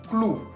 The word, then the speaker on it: clou: Otro ejemplo que sigue, clou. Clou. Se escribe con la O-U al final, que tiene sonido U.